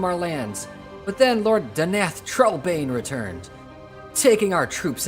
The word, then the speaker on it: Danath: Danath. Not Daneth, but Danath. I've been saying his name wrong for like 20 years.